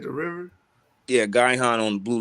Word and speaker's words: Gihon: you can you type up the word uh guy han real quick let's spell it g-i-h-o-n and can you pull it up in the